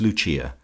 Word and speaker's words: Lucia: of her subjects as Lucia, pronounced, of course, in the Italian mode La Lucia, the wife of Lucas.